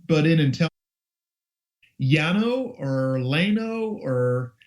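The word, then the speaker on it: Llano: was going to say the double l has always been pronounced as a y as far as I know so yah yah know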